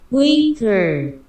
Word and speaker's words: Uyghur: This is the Chinese pronunciation. Uyghur.